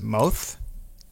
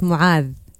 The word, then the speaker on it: Mu'adh: Is it Moath? No, not at all. It's Mu'adh. Mu'ath.